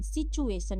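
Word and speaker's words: situation: एस आई टी यू ए टी आई ओ एन सिचुएशन। यहां पे टी यू का pronunciation हम लोग जो है उच्चारण क्या करेंगे?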